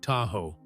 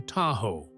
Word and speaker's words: Tahoe: Long before modern maps existed, they called it Da ow, meaning the edge of the lake. Over time, early settlers mispronounced the name and it eventually became Tahoe.